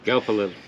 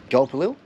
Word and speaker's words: Gulpilil: Some Crocodile Dundee actors, Ernie Dingo, David Gulpil. Is that how you pronounce his last name? Gulpilil. Gulpilil.